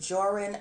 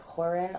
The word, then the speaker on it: Joran: You have the, I believe it's, I pronounce it Joran van der Sloot, but I believe the J is supposed to sound like an H, so it's probably like Horan or something like that.